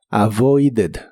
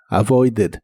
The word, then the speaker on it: avoided: el pasado Es avoided como es regular en el pasado termina con e d y esa Ed se pronuncia como Ed avoided avoided y lo puedes usar